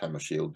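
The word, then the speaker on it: Hammarskjöld: um the words of dag hamashelt Hammer Shield I don't know I I only know it's pronounced Hammer Shield because I had a clover Shield that worked for me it was a Swedish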